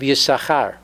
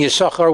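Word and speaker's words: יששכר: The silent shin is found in the name of Yisachar, which contains two shins, but only the first is pronounced.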